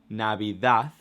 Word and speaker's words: Navidad: So we have Navidad, Navidad, Navidad, and I say the TH at the end, even though it ends up in a D, because it's how we pronounce it.